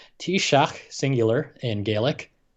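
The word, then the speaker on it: Taoiseach: or which other government executive uh this is pronounced t-shock singular in gaelic it's spelled like this spelling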